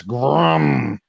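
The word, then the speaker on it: GRRM: Yeah, you pronounced it wrong. It's Grum.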